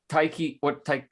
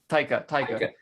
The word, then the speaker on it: Taika: But I think the Taiki, say his name, Taika.